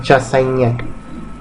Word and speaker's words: Chassaignac: Muy bien, se pronuncia Chassaignac.